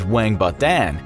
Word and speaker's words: 王八蛋: If you want to insult someone and their momma in one swoop, you'd refer to them as "王八蛋" (pronounced WANG-ba-dan), which roughly translates to "sea turtle egg."